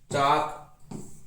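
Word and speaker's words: chalk: फिर देखो silent L, एल भी साइलेंट होता है, जैसे एमंड, बाम, काफ, काम, चाक, कुड, फाक, हाफ, हॉक ना, palm, Simon, should, torque, वाक, would, yak.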